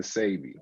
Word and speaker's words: Sebi: Like, what is the correct way to pronounce? Because I heard Sebi, Sebi. Which one is correct? It's really Dr. Sebi.